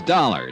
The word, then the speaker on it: Dollar: It's dollar. Johnny dollar. Dollar. Huh? Yeah. It rhymes with color.